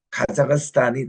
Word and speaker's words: 카자흐스탄: 그 위에 중앙에 보니까 카자흐스탄이 나옵니다 여기에 보니까 이분들 그 발음이 가사인데 스탄이 카자흐스탄 이게 그분들의 정확한 발음이라고 그래서 이제에 카자흐스탄은 워낙 이게